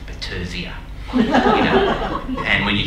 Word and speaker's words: Battersea: Although I'm told now Battersea, the suburb, is now to be pronounced Battersea.